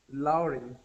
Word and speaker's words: Lauren: That is pronounced not whenever you see AU like that, AU, you do not pronounce the U. Do not pronounce the U. You pronounce AU sounds like O.